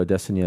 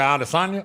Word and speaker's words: Adesanya: LAST WEEK, WE FOUND OUT THAT, UH, ISRAEL ADESANYA IS LEAVING HIS TEAM, HIS LONGTIME. HOLD UP. YEAH. YOU JUST PARADIGM SHIFTING ME RIGHT NOW. YOU SAID ADESANYA. SO IT'S ACTUALLY PRONOUNCED ADESANYA ADESANYA ADESANYA THAT'S THE UDIS ON ME, FOOL.